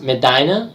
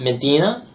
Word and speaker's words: Medina: By the way, it's pronounced Medina, not Medina.